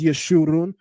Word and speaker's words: Yeshu: The in the maseretic text, they place the koot's vowel marker underneath this letter so that we would know how to interpret this properly. to not only pronounce it as Yeshu, but that it would